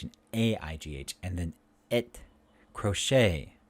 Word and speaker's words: crochet: a-i-g-h and then it crochet ballet these are french words so the t is silent so the a a